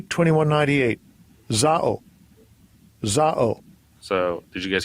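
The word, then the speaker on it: ζάω: and you can actually listen to how it's pronounced. Strong's G 2198. Zao.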